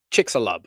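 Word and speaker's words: Chicxulub: I believe Chickalub is pronounced Chickixalub.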